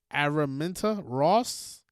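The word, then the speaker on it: Araminta Ross: I forgot um how to pronounce it. Aramenta Ross.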